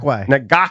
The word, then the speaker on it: Ngakoue: Ngakoue.